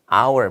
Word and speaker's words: hour: 발음 기호가 발음상 hour 모음이니까 on hour 이렇게 쓰시면 되겠습니다.